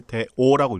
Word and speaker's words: 大恶: 그때 이제 대오라고 읽습니다. 아, 대오. 응.